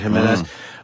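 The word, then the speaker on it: Jiménez: Yeah, I think they pronounce that as an H, right? Jimenez.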